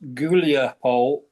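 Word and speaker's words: Huliaipole: going to be Yancho River Julia which is pronounced Gulapole they're getting very close to that that's a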